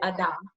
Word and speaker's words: Ada: ada or is it adam yeah so it's pronounced ada like it's it's really hard to pronounce correctly without the evo accent but it's it's ada okay okay but yeah